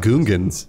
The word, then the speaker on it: Gungans: create a new jeonghan he said Gungans he got it right he pronounced it the way they would pronounce it it's like when